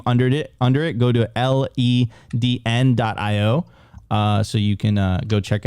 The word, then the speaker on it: Ledn: And I would always say Ledn, but I always said in the future, Ledn will be the correct way of writing lend. So lend, like lend, it's working.